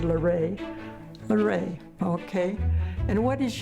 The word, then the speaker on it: LaRae: I said, LaRae.